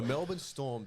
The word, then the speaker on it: Melbourne Storm: As I love to hear some people call them the Melbourne Storms. Storms. I'm all for them pronouncing the team name wrong.